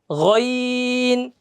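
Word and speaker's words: غ: গইন, গ, গইন, গইন, গ। গইনের উচ্চারণটা আমরা করব কি, গ, গ, এই যে গ।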